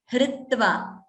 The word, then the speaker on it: hritva: Okay, there it is hr as in a gunitaksharam, like hra, hra, hri, hri, hr, hr. So that is how it is going to be pronounced. Hritva, h and then r. Hritva, hridi, kripa, krishnaha, all these.